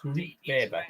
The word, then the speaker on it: Weber: Leon Weber it is. Leon Weber. That's how it's pronounced. Weber.